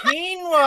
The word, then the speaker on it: quinoa: was quinoa okay oh quinoa i think i got caleb together and quinoa and that became kevlar somehow it doesn't sound like it's it's spelled with a queue but noah oh that's right